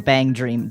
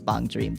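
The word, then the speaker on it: BanG Dream!: it compared to a bong dream a lot or bang dream but depending on how you prefer to pronounce it I'm pretty sure technically it's bong dream though oh you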